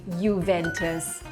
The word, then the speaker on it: Juventus: I said Juventus. Yeah, it's terrible, but you're supposed to say Juventus.